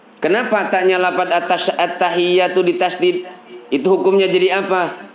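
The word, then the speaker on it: التحيات: Jadi huruf ta dan iya-nya jangan begini bacanya at-tahiyatul. So kalau baca begitu, ada yang baca berikutan at-tahiyatul. Itu hilang tasdidnya.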